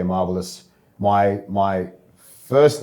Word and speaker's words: Marbilus: having you now your surname how do you pronounce it marvelous marvelous mm and I understand your heritage goes back